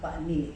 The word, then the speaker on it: Bani: That's actually pronounced Bani.